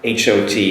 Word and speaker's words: hot: in the pronunciation of H-O-T, hot, compared with H-A-T, hat. Now, for the hot, makes an ah sound, hot, whereas the H-A-T, hat, makes an ah sound, so hat.